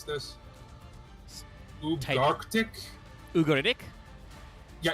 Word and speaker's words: Ugaritic: oh God, how the fuck do I pronounce this? Type- Ugarctic? Ugaritic? Yeah, Ugaritic, or Canic, or Canitic way of saying Yes.